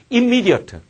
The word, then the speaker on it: immediate: 그 다음, immediate. 자, 발음이 바뀌지. immediate이라고 얘기하잖아.